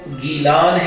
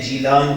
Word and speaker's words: گیلان: یہ جو گیلان ہے اس کو عربی لہجے میں جیلان کہتے ہیں اور اس کا تعلق ایران کی دھرتی سے ہے، عجم سے ہے.